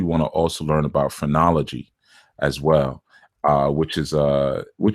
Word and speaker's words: phrenology: And phrenology is PHR. It's P spelled with a P, not with a F.